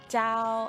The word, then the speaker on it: chào: Chào anh. Chào anh. Chào, you just say chào. Chào. Chào. It's like ciao.